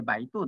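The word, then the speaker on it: 百度: 一番有名なのはバイドゥですね。100 度と書いてバイドゥと呼ぶんですね。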